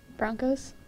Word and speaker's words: Bronchos: they call you guys broncos broncos but it's spelled bronchos so and there actually